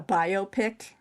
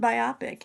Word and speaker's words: biopic: Okay, a biopic, right? I pronounced it biopic, and you know what? I still like biopic. I think that is more. I think biopic is appropriate. Biopic. That's right. I mispronounced it, and I didn't care.